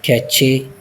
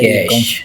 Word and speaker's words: cache: Some people mispronounce it as cache, but its correct pronunciation this chair is very cash. comfortable. Cash. CH gives us the sound of sh and E is not pronounced.